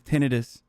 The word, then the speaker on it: tinnitus: out that the way the proper way to say tinnitus is tinnitus military celibacy means this